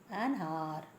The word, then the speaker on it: hour: An hour. H is silent.